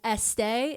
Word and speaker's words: Estée: And as like a a branding marketing thing, she added the little thing above the E and started pronouncing it more as Estee instead of Esta, which is how they would have pronounced it.